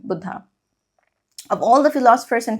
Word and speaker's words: Buddha: Hindi pronunciation, Buddha.